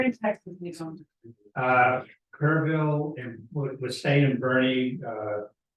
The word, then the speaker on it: Kerrville: Kerrville, and we're staying in Bernie. It's spelled Burn, but Texans don't know how to talk.